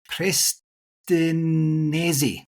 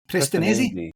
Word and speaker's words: Prestinenzi: please forgive me, Prestinenzi. Prestinenzi? You got it.